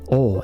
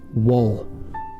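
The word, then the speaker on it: を: one two three oh now you might be hearing me say oh and not woe uh that's because this is mostly only ever used as a grammar particle as far as probably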